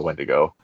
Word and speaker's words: Wendigo: It's the Wendigo. It rhymes with wet dingo, and we'll go from there.